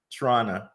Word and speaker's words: Toronto: on up there in Toronto I think uh in Michigan we call Toronto like toron toron we say it like that or toron or Toronto